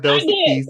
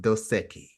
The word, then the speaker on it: Dos Equis: Hey, And it is not Dos Equis, it is pronounced Dos Equis.